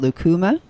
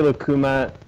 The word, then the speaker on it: lucuma: vanilla Luke Luke Luke how do you say that lucuma I say I say lucuma I think probably a lot of people might say lucuma okay but yeah it's